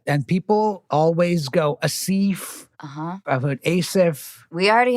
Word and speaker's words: Aasif: look how it's spelled tell me how to pronounce your name it's asif asif yeah asif so it is the softer like anna yeah that's right and people always go asif i've heard asaph we